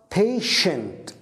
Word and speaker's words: patient: هنا المريض ينطق patient. نعم هنا شين patient.